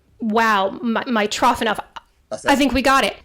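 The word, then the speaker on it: Mitrofanoff: right Ty's enough okay what is the actual pronunciation uh my trough enough wow my trough enough I think we got it so do you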